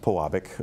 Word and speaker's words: Pewabic: and plug because PE wabi see but it's pronounced Pewabic it's an agile and we're right you know